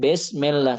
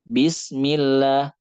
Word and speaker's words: Bismillah: Dibandingkan dengan " Bismillah, Bismillahi-r-rahmani...", bukan "ma", "Bismillah, Alhamdulillahi rabbi-l-'alamin", itu ada. Jadi kita juga harus menyempurnakan suaranya; fathah adalah 'a'. Kasrah adalah 'i', bukan 'e'. Bukan "Besmillah", tetapi "Bi". “Bismillah, Alhamdulillahi” Misalnya.